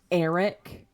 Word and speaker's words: Aric: speak aric 20 gold it's pronounced Eric okay A a Ron